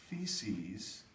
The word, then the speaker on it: theses: Martin Luther and his 95 theses rhymes with feces Martin Luther was a